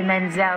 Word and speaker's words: Menzel: You said it nice, Idina, and I like to say Menzel. It sounds like oil.